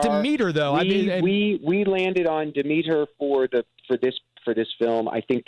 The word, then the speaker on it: Demeter: So we just wanted to give a consistency so everybody, and it sounds good on the ear. It's Demeter. The way that Liam Cunningham, who plays the captain, says Demeter, it sounds so great.